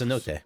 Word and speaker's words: cenote: I didn't know the emphasis was on the first syllable. Of That was course, Cenote.